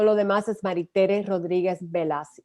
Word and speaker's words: Bellas: demás es Maritere Rodríguez Velas, y es de bueno, ELLAS, Maritere Rodríguez Velas, en español podría decirse Bellas, pero mi esposo es griego, así es que 2L en griego se pronuncia como una.